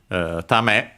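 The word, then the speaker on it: ため: Tame should be accented, yes, accented on the last syllable.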